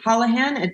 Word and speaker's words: Holahan: And it's spelled like Ola and then Han, because that's the best way to break up an Irish last name when you're Jamaican. Just go with Spanish.